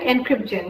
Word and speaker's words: EncrypGen: EncrypGen, that's how you say it.